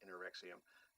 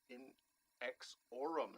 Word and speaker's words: Inexorum: Oh, I was going to mispronounce that. I was so worried. I was going to call them Anorexium. That would be bad. But it's Inexorum and their album Moonlit Navigation, currently out on Gilead Media.